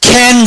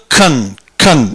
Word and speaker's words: can: 어은은 더 캔 여러분 캔 그러면요 깡통 되는 거예요 그렇죠 bear 응 캔맥주 있잖아요 can bear 깡통이라고 할 때는 캔이라고 발음이 센 거고 조동사 기능일 때는 con 이렇게 되는 겁니다 but but음 엄 엄